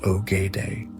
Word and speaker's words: Ogedei: pivotal decision to name his third son Ogedei, pronounced Ogedei, as the Great Khan Kagan, the supreme ruler of the entire empire.